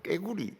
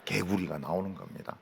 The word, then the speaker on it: 개구리: 경상도 사람인데 개구리 발음해봐라 이러면 꼭 깨구리 이렇게 합니다. 개구리라고 발음 못해요. 제가 개구리라 하는 것은 수천 번 연습한 결과 개구리가 나오는 겁니다.